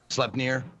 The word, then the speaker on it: Sleipnir: I got Odin's Mount, Sleepnir. I don't know how to pronounce it. Yeah. Sleipnir.